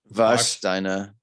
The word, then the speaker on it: Warsteiner: That gives us an 8.7 for the how do you pronounce this? Warsteiner.